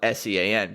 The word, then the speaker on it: Sean: It's spelled S-E-A-N, but pronounced Sean, so better get that right, people.